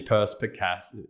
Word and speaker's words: perspicacity: Perspicacity.